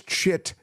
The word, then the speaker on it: chit: some deep thoughts well it's not chip chip it's chit chit c hii t chit chit chit CH chit chit and uh that is how you spell it chit chit chit